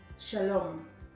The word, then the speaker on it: shalom: the video first word shalom shalom what syllable is emphasized if you guessed the last syllable you are correct Shalom next word emphasizing